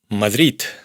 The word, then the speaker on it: Madrid: árab árabe d se pronuncia como t fred frío y por supuesto la famosa Madrid Madrid G se pronuncia como c dialog diálogo.